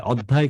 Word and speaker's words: অধ্যায়: অধ্যায়, অধ্যায় কেন বললেন? অয়ের পরে জফলাযুক্ত ব্যঞ্জনবর্ণ থাকলে আদ্য অয়ের উচ্চারণ ওকারান্ত হয়ে যায়, ওটা অধ্যায়।